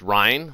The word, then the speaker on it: Ryan: Ryan spelled Ryan or pronounced rein like the Rhine River in Germany is going to play